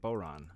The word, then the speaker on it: bodhrán: is the boron bodhrán I think boron it's pronounced which is the celtic slash